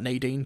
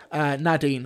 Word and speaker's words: Nadine: Nadine is pronounced Nadine, not Nadine. Just remember the first syllable rhymes with mad. You won't go wrong. Lovely. Nadine.